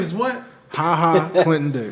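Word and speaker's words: Ha Ha: It's spelled H-A-H-A. Really? Oh, wow. Yeah, I saw. I that. thought it was like JAH. Oh, my, wow.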